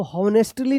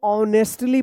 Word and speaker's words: honestly: चलिए अब यहाँ पे देखिए HONESTLY, इसको हॉनेस्टली नहीं, इसको ऑनेस्टली पढ़ेंगे। क्या पढ़ेंगे? ऑनेस्टली। यहाँ पे एच साइलेंट होगा, इसका उच्चारण नहीं होगा, ठीक है।